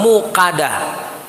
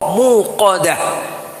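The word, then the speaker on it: الموقدة: W itu q jadi jangan dibaca mukad ada soalnya yang baca qof itu tapi dibacanya seperti Kaf karena terlalu buka mukadah jadi jangan mukadah muqodah narullahil muqodah allatiah di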